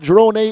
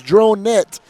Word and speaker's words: Dronet: can pronounce it right it is not Dron a it is dronette who is one hell